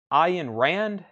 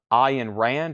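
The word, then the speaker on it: Ayn Rand: Road another science fiction novel 9.99 is this pronounced I in Rand anthem that's 9.99 that's a science fiction novel operating manual for spaceship earth book Minster feeler that's 9.99 here's another I in Rand we the living that is 9.99 and Rand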